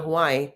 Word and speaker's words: Hawaii: it, God bless, because you're supposed to pronounce every syllable when you speak Hawaiian, by the way. That's why when you go to Hawaii, they go Hawaii, Hawaii, kawaii, right?